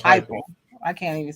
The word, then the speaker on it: Heupel: How do you say his name? Oh, Heupel. Josh Heupel. I can't even say his name. Yeah, Josh Heupel.